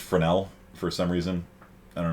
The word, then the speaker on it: Fresnel: spelled fresnel it's pronounced fresnel for some reason i don't know why maybe it's french or something probably it sounds french um i don't know